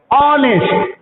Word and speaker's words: honest: ऑनेस्ट is start with H, but pronunciation is honest.